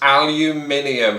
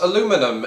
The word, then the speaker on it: aluminium: there it is folks aluminium how crazy is that pronunciation to americans but of course aluminum is perfectly acceptable too it is used in